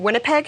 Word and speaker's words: Winnipeg: These maps include like the map of, please correct my pronunciation, Winnipeg, is that right?